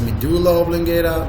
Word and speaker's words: medulla oblongata: the dollar wobbling Gala or some people are pronouncing it as medulla oblongata both of them are ok and the middle